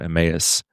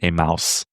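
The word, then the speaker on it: Emmaus: I've gone to an Italian church the past 17 years and it was only recently that I learned that this word is not pronounced a mouse.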